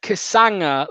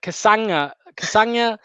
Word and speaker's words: Castagne: win soon ben says it's pronounced uh kasanga like lasagna kasanga um who knows we'll